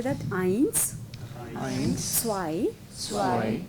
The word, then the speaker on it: zwei: So anywhere you see this A on the E and I, yeah, it is always I, like I, yeah.